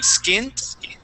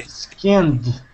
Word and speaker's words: skinned: Now with that sound, you're pronouncing a T sound, saying skint. Skint. Okay. Skint. All right. That D sounds like this.